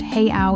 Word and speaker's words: real: Number three, the Brazilian currency is the real, spelled R E A L, but pronounced heyo in Portuguese.